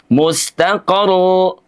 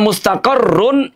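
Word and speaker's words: مستقر: Tidak cukup mustaqaru. Kalau mustaqor, maka berarti ada huruf yang hilang. Karena mustaqarrun itu ada 2 huruf. Ro sukun dan ro yang berharokat. Kalau datar saja cara membacanya mustaqaru, maka huruf yang berharokatnya seakan-akan menjadi hilang.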